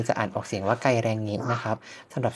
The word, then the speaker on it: Geiranger: ใน ภาษา นอร์เวย์ จะ อ่าน ออก เสียง ว่า ไกล แรงเงะ นะ ครับ สำหรับ ที่ นี่ มี สถาน ที่